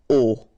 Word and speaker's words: au: Okay, so a plus le will become o, like that. You write it au, you pronounce it o.